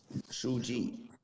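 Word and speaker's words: 书记: How do you say secretary in Chinese? Shu Ji. Suji. what? Shu Ji. Shuji. Sushi. Sushi. Shu means book. Ji means like record. But secretary is Shu Ji.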